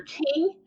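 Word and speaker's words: Kueng: this week and so I did confirm the pronunciation is J Alexander King and Tao Tao they were convicted on federal charges and so former Minneapolis police officers Jay Alexander King and toe Tao or sentenced by the U.S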